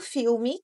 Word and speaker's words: film: gente pronuncia film não esse l não tem o som de o tem o som de L mesmo né você coloca a